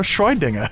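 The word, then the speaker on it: Schrödinger: Shroydinger. Is that even how you say his name? Schroydinger.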